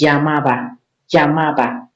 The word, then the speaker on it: llamaba: So for Spanish speakers, when they see LL, when a word starts with LL, they don't say no, they don't use L, they use say it like you want to say why. Yeah, like the verb, like the word, like the sound in yo-yo. So why they use like why. So that's llamaba.